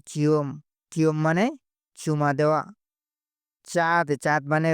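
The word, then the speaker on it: cat: চিওম মানে চুমা দেওয়া চাঁদ চাঁদ মানে রং সি কে মালয়েশিয়া কি চেয়ে উচ্চারণ করো চাঁদ সি এ টি চাঁদ কি চাঁদ মানে কি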